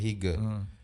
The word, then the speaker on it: Hygge: Namanya Hygge, tulisannya H-Y-G-G-E, tulisannya Hygge. Bacanya Hygge.